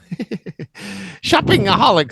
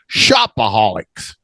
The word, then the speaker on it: shopaholic: she is a um shipping aholics shopping aholic sounds like the the organization that helps people who are shopaholics yeah it's just shopaholics Shopaholic Shopaholic yeah Chop Shop